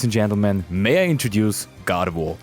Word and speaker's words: Gardevoir: Ladies and gentlemen, may I introduce Gardevoir, a Pokemon with a kind of French pronunciation.